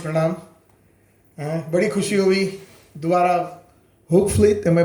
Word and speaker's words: Hoogvliet: बड़ी खुशी हुई दोबारा Hoogvliet, am I pronounce it correctly? Yes. कैसे कोई मुझे बताओ डच वाले? Hoogvliet.